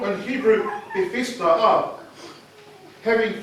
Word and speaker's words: Bethesda: I've been trying to pronounce it all week, hey? Bethesda.